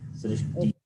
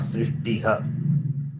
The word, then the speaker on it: सृष्टि: In this word, Srishti, Visarga is preceded by the letter E. Okay. Srishti being E, then Visarga is pronounced along with the preceding vowel, which is Ikara, E. Srishti, not Srishtiha. It's a wrong way to read Srishtiha.